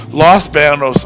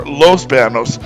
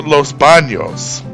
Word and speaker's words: Los Baños: in the comments, but I think it's always been acceptable to say either Los Banos or Los Banos and to use them interchangeably. However, it was never pronounced with the NY sound that the tilde would provide, so it was never Los Banos.